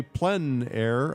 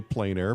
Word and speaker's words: plein air: The French say plenair, others say plain air, but it doesn't matter how you say it, it's a huge movement of people who go around and paint outdoors.